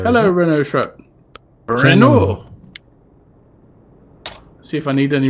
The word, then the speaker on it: Renault: Renault. See if I need any repairing. The only thing I know about me. the French language Engine. is that you don't pronounce the last letter.